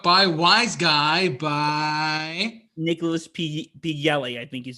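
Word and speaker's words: Pileggi: Nicholas P. Yelly, I think his name is.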